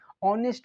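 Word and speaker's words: honest: आपकी जब आप क्या करेंगे, इसको क्या करेंगे, प्रोनाउंसिएट करेंगे, तो आपकी क्या आ जाएगी, ऑनेस्ट बोलते हैं, क्या बोलते हैं, ऑनेस्ट, मतलब उस चीज़ की वॉइस निकलती है ना, सभी को पता होगा।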